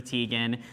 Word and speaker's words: Teigen: There were some great moments, including Chrissy Teigen. She had her typical moment. So That is my sis. I love her. Hey sis. Did you guys? Teigen. Yes, I was gonna say it's Chrissy Teigen.